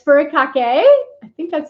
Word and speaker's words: furikake: And it's furikake.